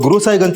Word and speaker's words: गुरु साहिबगंज: गुरु साईंज सर गुरु साहिगंज को वहां के लोकल लोग गुरु साहिबगंज प्रोनाउंस करते हैं।